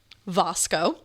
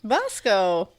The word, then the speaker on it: Vasco: They were Aldo, Vosco, Vasco, Ugo, I believe, and Rodalfo.